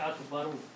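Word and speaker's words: أَكْبَرُ: word after that is Akbar, which is actually Akbaru, okay, if you are reading these two words together, then you have to pronounce this letter correctly.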